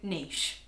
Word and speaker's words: niche: So, niche.